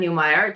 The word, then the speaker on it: Newmeyer: Thrilled to welcome my guest today, Jen Newire, just like Oscar Meyer, but new and improved.